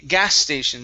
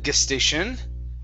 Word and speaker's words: gas station: up is uh okay gas station so the stress is at the very beginning instead of gestation it's gas station gas